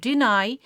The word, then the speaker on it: deny: The verb called deny. In a word deny, the second syllable called nigh takes its own stress mark.